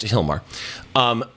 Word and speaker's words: Gilmar: cool talking points about Hilmar by the way people if you don't know when you go look at the post her name is spelled with a G I'm not mispronouncing it and I didn't spell